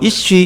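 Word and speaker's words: אִישׁ: 남자, 여자, 히브리 발음으로 이쉬, 이샤입니다.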